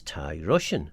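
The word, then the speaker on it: Thie Rosien: So I said, well, it's Thai Russian, obviously. Obviously. And it's spelt Thie, which is Thai, and then Rosein, which is Russian.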